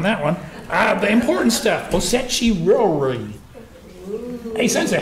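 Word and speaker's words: osechi ryōri: Osechi ryori. Osechi ryori, that's what I just said. Hey, everybody, let's say that together. Osechi ryori. It's actually one of the more difficult ones to pronounce.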